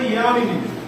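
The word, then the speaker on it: যামিনী: এখানে জামিনী উচ্চারণ হবে ইয়ামিনী, ইয়ামিনী, ইয়া উচ্চারণ হবে, ঠিক আছে? ইয়া উচ্চারণ করবি।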